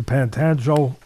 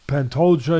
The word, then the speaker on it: Pantoja: Fighters uh Marino coming off a loss to Pantano am I saying it right he lost his title to um pant pant Pantoja he lost his title to him who's a